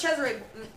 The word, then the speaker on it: Cesare: That's Cesare. That's Cesare. Look up Cesare Borgia. For those of you who don't know, look up Cesare Borgia.